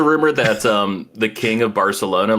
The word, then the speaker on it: Barcelona: Yeah, they pronounce like every C or S they pronounce like with a lisp. Oh, that's how they pronounce it. Okay, Yeah. I thought you were saying like, that's actually how it's supposed to be pronounced. I mean, in Barcelona it is, but everywhere else in Spain does not speak like that. So they call it Barcelona, and then everyone there calls it Barcelona.